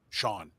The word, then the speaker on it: Chone: Right, Chone, Sean, he pronounced it.